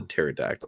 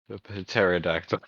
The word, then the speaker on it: pterodactyl: pterodactyl when it urinates because the p is silent the pterodactyl actually starts at p i hope that's right oh pterodactyl okay hold on uh